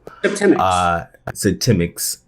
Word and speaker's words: Septemics: So I was saying in the intro that Semantics, your book now available, Septemics. I kind of remember how to say it by the month September.